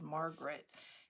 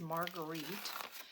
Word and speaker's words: Marguerite: name wrong i think i said margaret and it is not margaret i went and watched one of her videos it is marguerite and i don't know